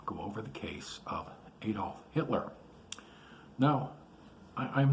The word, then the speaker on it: Adolf: um adolf hitler and the pronunciation there is adolf not adolf he didn't like adolf at all matter of fact um the consequences could be severe if you called him adolf it's adolf uh he was born in